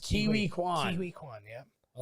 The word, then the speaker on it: Ke Huy Quan: It's actually Ki- pronounced Kiwi Kwan.